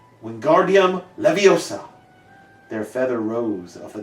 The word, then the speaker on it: Wingardium Leviosa: "Wingardium Leviosa!" he shouted, waving his long arms like windmills. "You're saying it wrong," Harry heard Hermione snap. "It's Wingardium Leviosa. Make the gar nice and long."